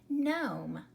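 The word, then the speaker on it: gnome: letter pair there so we don't hear the G so we would simply pronounce it Nome because you have the silent e at the end and the O says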